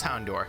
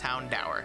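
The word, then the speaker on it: Houndour: i thought it was hound door it's hound hour as in the word dower because it's dark type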